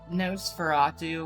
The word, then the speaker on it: Nosferatu: how to pronounce that Nosferatu would be the appropriate one I always just say nosferado nosfera too and a humanoid Don